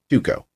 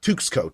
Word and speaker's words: 2XKO: Tuco. Tuco. It might work. Yeah. Not Tuxco. Tuxco sounds dumb and that doesn't roll off the tongue. Tuco, though, does. It's 2 syllables.